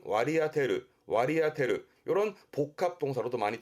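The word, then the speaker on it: 割り当てる: 업무 할당이라든가 나눠지는 할당, 발음은 와리아테르, 와리아테르.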